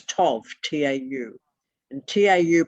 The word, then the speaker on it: tau: there are no vowels the original letter that looks like a tease is not tet t-e-t-h it is toff t-a-u and tau pronounced